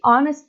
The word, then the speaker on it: honest: Esse H aqui não é pronunciado, ele não tem som, então praticamente a palavra começa com O, então é por isso que a gente usa an.